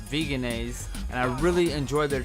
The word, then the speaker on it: Vegenaise: I really like Follow Your Heart's vegan mayonnaise, the Vegenaise, which I pronounce Vegenaise, and I really enjoy their cheese on various pizzas and things.